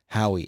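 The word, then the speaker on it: Haughey: and it's funny because his name is spelled Matt like m- a TT hoe h a u g h e y but he said people always get it wrong people always get that wrong so his Twitter name is Matt m a t Hoy h w i e it's ftic I guess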